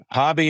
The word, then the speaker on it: Hobby: Hobby is pretty. I mean, Hobby Lobby. I mean, everybody's heard of it.